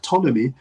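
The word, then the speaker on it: Ptolemy: Uh for those don't know, the name is Lake Tommy. Um Tommy spelled with T P T O L E M Y.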